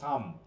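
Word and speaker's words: Psalm: Country for purpose right in tune of সাম। বিশেষ করে সাম নামে একটা চ্যাপ্টার আছে। একটা বই আছে আমাদের বাইবেলে। দেখ উচ্চারণটা কিন্তু হচ্ছে সাম।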